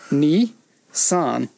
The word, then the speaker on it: Nissan: I wonder if they did that on purpose, because 23 is pronounced Nissan, like Nissan.